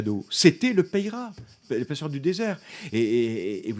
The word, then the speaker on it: Peyrat: Peyrat j'ai quelque chose je prononce à la française Napoléon paiera celui qui a réhabilité